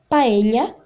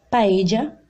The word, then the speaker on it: paella: Essa primeira imagem pode ser paella, paella, paella ou paella, certo?